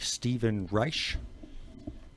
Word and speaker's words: Stephen Reich: You had mentioned a name during the break, Stephen Reich. Yeah, interesting. Did I pronounce that correctly? Yeah, you did.